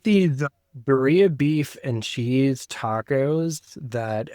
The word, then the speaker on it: birria: I guess I'm pronouncing birria. You gotta have the R in there.